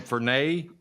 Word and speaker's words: Furnier: of a radio show i guess you pronounced his last name for nay f-u-r-n-i-e-r for now i'm just